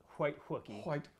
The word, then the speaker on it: Wookie: The White Wookie. Okay, rhymes with cookie.